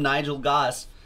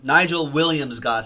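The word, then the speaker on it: Nigel Williams-Goss: and one of them will be with Liam Nigel gas of course not William Nigel Williams Goss I came and say his name right I've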